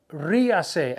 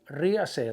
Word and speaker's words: ríase: Ríase, accent on the I, R-I-A-S-E. Ríase, laugh.